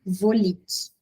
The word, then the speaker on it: Volich: Ó, o nome dele completo é Rubens Marcelo Volic. Volic se escreve Volich.